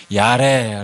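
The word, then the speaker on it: יָרֵא: 말이 처음에 등장하게 되는데요 야 래 라고 이렇게 원어 성경에 보면 발음을 하는데요 이 동사가 처음 등장한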